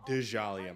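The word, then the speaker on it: Djalia: of Dejali to post Dejali, my bad. The D is pronounced. It's not like Django. It's Hela, and Hela wasn't targeted for either of these teams.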